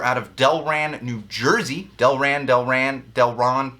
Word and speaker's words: Delran: Delron. It's got to be Delran.